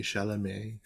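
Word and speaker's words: Chalamet: of people including Timothy shalam and uh I'm sorry I have to say his name like that because he has an A on his e his double e at the end of his name so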